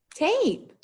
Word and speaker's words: tape: well this remember that this a and this word is going to say its name it follows the vowel consonant with the silent e so ape tape great job guys all